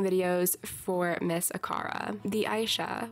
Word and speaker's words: Aisha: for Miss aara the Aisha which I have apparently been pronouncing wrong this whole time time but whatever it's fine I say Asia in my head I'm going to continue